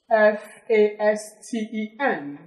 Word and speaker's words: fasten: Then we have another word, F-A-S-T-E-N. How do you pronounce this?